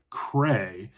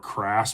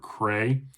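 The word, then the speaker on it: Crais: I knocked out Demolition Angel by Robert Cray. I've been calling Robert Crass, but the S is silent. So, I think it's Robert Cray is how you pronounce his name, but Demolition Angels, a standalone book.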